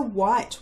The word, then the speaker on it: white: It was a white whale. W, silent H, I as in kite, T.